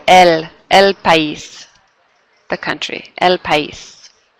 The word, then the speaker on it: país: Oh, sorry, this should say el país, the country, el país. Notice how you pronounce each syllable there. País, el país.